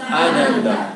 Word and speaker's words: Ananda: Sat Chit Ananda. Sat quiere decir ser. Chit, conciencia. Y Ananda, bienaventuranza. muy bien. Ahí Ananda lleva acento en la primera.